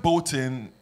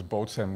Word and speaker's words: Bôhten: k came up with with a flip which was Bolen with the accent on the top and it just rolled off the tongue better yeah yeah but that's that's that's the it sounds like some bull yeah bolon it's got a ring